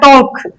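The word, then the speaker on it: talk: में लिख देती हूं टैक ओ का ल टॉक ल की फिर हल्की सी साउंड आती है टॉक बोला एल बिल्कुल रिमूव ही कर दो टॉक समझ में आई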